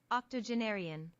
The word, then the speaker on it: octogenarian: a new word octogenarian oh I wasn't even close octogenarian they pronounced the the G with a J octogenarian octogenarian octogenarian octogenarian